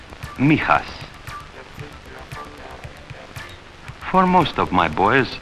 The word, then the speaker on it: Mijas: village here near the southern coast it is pronounced Mijas for most of my boys Neha's outside the